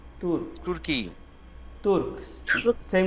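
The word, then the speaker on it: Turque: হ্যাঁ, ওকে, তুর্ক, এটা হবে টি ইউ আর সি কিউ ইউ ই, তুর্ক, তুর্কি, তুর্ক, সেম উচ্চারণ।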